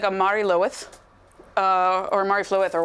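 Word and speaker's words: Mari Lwyd: shows up as a Mary Lou Mary Lou's is how you say it okay you know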